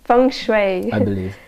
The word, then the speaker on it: feng shui: around the mansion and she said she said Feng Shui experts feng shui expert how do you pronounce our friendship song Shui from Fung Shui okay so she's a Fung Shui expert so